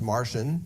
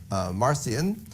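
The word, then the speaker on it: Marcion: figure in early Christianity named marcian sometimes pronounced Martian but that doesn't sound quite right so we say marcian around 160 in Rome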